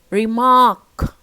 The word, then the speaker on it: remark: second paper paper Okay remark Remar Mark okay second syllable which is stressed as you see and